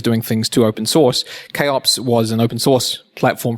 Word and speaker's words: kops: platform do you have a preference on the pronunciation first of all we didn't and we are now recommending chops it better communicates what we think our value